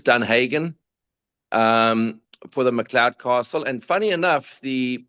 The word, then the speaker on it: Macleod: And let's Yeah, it's actually Mloud. Mloud. Okay. Yeah. It comes from the Scottish uh the classic Scottish pronunciation. Correct. And uh it's MAC, not the MCC. L E O D.